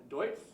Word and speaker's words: Deutz: So you might have to help me with the pronunciation of Deutz?